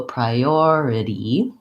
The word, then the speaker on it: priority: noticing and practicing that it has a tense e at the end even though I have to be light and short in duration on that syllable so priority of the way I